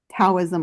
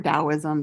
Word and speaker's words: Taoism: necessary necessarily is um taoism or dowoism depending on how you want to u pronounce it.